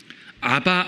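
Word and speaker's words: אבא: 아바. 아, 아빠. 아바도 A, BBA니까 사실은 아빠 발음이거든요. 그렇다고 정말 아이들이 부르는 의미는 아니고요.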